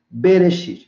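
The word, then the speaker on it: בְּרֵאשִׁית: Então aqui tem B, Resh, aqui esse Aleph não se pronuncia, aqui é o Shi, aqui é outra consoante que é o Yud e o Tav. Então, Bereshit. Bereshit significa no princípio.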